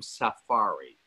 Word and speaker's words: safari: And he had just come back from safari. I like the way the Brits say it, safari, not safari, safari. I used to work with Attenborough, and that's the way he called it too.